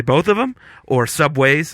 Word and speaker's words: Subway: obnoxious it's it's like it's not Subways it's just Subway you see do you see an S at the end Dum why would it